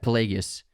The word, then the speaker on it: Plagueis: stop people from dying plagueis yeah plagueis not plagues plagueis yeah darth plagueis